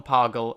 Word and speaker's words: Pagel: She was the daughter of a certain Wilhelm Pagel and Gustine Braun, and it's the German names there that make me think it's pronounced Pagel, but if not, let me know at the show's email address.